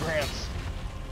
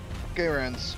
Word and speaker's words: Garand: All armed with M1 Grants. Garands. Oh, it's pronounced.